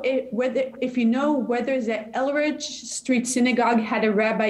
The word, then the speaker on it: Eldridge: It's Eldridge, by the way, with a D after the L. There is a D there.